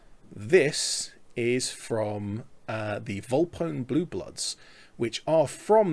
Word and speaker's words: Volpone: papa oscar november echo so it's the same spelling as bone phone scone so on and so forth you would expect that